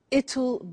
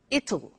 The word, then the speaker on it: it'll: It's just the pronunciation which is difficult. I said tomorrow it'll be cold. You notice how it will becomes it'll.